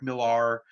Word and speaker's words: Millar: you guys watch Mark Miller uh you might say his name's Mark Millar Mark Miller Scottish uh comic book